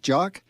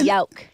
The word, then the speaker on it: Jauk: Gentleman's name is Jock. Jock. Well, actually, Jauk. Oh, Jauk. He likes Jauk. That's the German pronunciation.